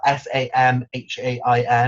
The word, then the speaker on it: Samhain: The original name of Halloween is Samhain, but it's spelled Samhain.